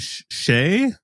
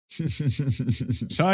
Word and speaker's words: Shai: First up, this guy named Shay. Is that how I pronounce it? No, it's not. Shai is doing a meetup in San Francisco.